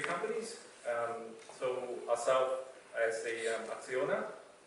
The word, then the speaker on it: Acciona: So ourselves as a Acciona, it's actually pronounced as Acciona.